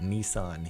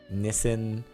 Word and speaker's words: Nissan: where you're from because we pronounce it Nissan here in the United States but you say Nissen over in the UK Europe maybe it's pronounced